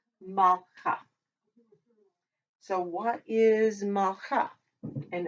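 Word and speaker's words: מלכה: Mal, because that two dots there is our schwa or a stop. If you can stop, you do. Malcha.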